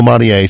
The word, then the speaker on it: Marie: kondomari and maria condo in the us they call it marie because they pronounce the e but it's written in